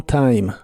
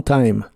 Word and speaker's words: time: por un largo tiempo la i de la palabra Time se pronuncia como a la e del final no se pronuncia pero las demás palabras